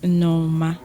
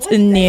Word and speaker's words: Nneoma: So my name is Nneoma. Not Nneoma. Oh, no, you said Nneoma. You broke you put the N and then exactly. So it's Nneoma.